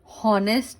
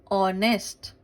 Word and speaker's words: honest: एंड ऑनेस्ट, हॉनेस्ट नहीं, ऑनेस्ट, इसमें क्या है, H इज साइलेंट।